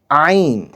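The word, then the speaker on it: عين: আমাদের পরবর্তী বর্ণটি হলো আইন। আইন বলার সময় আমরা 3 আলিফ পরিমাণ টানব।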